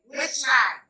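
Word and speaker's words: Wetchlyne: Par exemple, moi, je m'appelle Wechai. C'est le prénom. Mon prénom, c'est Wechai. Ça s'écrit W-E-T-C-H-L-Y-N-E.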